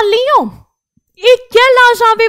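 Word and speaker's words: Lyon: आगे वो बोलता है जाबीत आलियों, बीत आ ले यों, ये फ्रेंच में ही जगह है लियोन, तो यहां पर लियोन हम लोग लियोन बोलेंगे इंग्लिश में, लेकिन फ्रेंच में बोलते हैं लियों।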